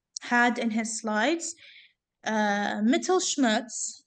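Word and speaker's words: Mittelschmerz: in his slides uh metal Schmutz that's literally how it's pronounced metal Schmutz uh that's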